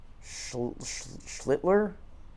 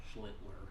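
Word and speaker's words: Schlittler: Schlitler. Schlitter. Schlidler. Schlidler. Trying. Trying. It's not working. He's trying people. I guess I've heard people not pronounce the first L.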